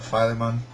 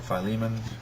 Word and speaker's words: Philemon: and lastly that to a Philemon or Philemon however you want to pronounce it and besides the revelation